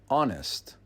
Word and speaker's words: honest: The word is pronounced honest. The H is silent, so it actually begins with a vowel sound, even though the H is a consonant when you spell it.